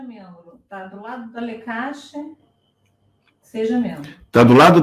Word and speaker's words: Leqashy: Lecashe se escreve L-E-Q-A-S-H-Y.